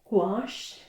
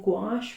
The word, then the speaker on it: gouache: lift in so wash if you have not gotten the pronunciation as that this is a cute trick instead of saying gosh remember the word squash but don't put the X on but put that gun gosh gosh alright so quash so